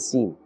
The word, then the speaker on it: س: So Sin has a harder sound and Sad has a little more gentle sound.